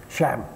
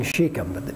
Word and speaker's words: Shechem: a map and and the way they say shechem in hebrew it almost comes out as one syllable sham almost sounds like shem they hardly say the and i always grew up saying sheikham but if you go